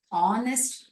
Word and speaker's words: honest: பரமி இஸ் an honest girl. இந்த ஹெச்ங்கிற எழுத்து silent, ஓங்கிற எழுத்தினோட தான் அந்த வார்த்தையானது உச்சரிப்பே இருக்கும்.